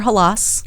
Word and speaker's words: Halaas: Halaas. Correct. First name. How did I do with that pronunciation?